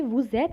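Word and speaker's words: vous êtes: you must be confused why do we say woozet and not vous there is a liaison so if you want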